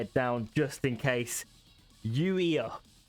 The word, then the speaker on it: YUIA²: YUIA². YUIA². So YUIA, pronounced YUIA squared. Okay?